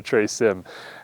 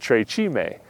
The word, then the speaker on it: Tre Cime: say we're going to Tre Sim. And the bus driver, who speaks perfect Italian, said Tre Cime. That's not how he said it. He said it correctly, but Anyways, so now